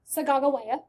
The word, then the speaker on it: Sacagawea: We have been pronouncing her name wrong the entire time. The real way that you are supposed to pronounce her name, Sacagawea.